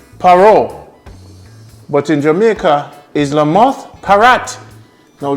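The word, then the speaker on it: Lamothe Parrot: But in Jamaica, is La Moth Parrot. Now it's spelled L-A-M-O-T-H-E. How did she pronounce it? La Moth Parrot, right?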